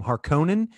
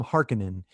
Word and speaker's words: Harkonnen: who you listen to some people pronounce them harkonnen some of them somebody pronounces them harkenin they're the they're the